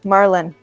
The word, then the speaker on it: Marlin: remembering this guy's name it's like the fish dude marlin pronounce it like the